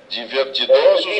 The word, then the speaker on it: Divertidosos: Qual é a pronúncia correta? Divertidosos ou... É divertidosos.